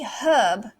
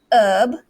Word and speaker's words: herb: the third word okay for the british they might say herb and then americans silent h so they might say herb or excuse me herb they might also say herb but they have the r sound there okay let's look at